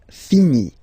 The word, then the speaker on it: finis: Remember, final S is not pronounced. Je finis. Okay? Tu finis. So ES as well, like we had for je. So same way to pronounce it as well. You don't pronounce the final S.